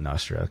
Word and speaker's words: Nostr: nostru yeah so not i call it nostra because i have an app called so nostradamus anyway so but some people call it nostra um yeah so nostra